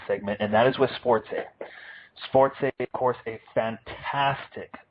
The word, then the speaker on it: SportsEh: And it's spelled as it would sound with the EH, Canada, A, the stereotype. SportsEh, SportsEh.